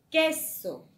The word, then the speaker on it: queso: Por ejemplo, la palabra queso. Queso tiene la mayor fuerza de voz en cuál es. En la sílaba que, ¿verdad?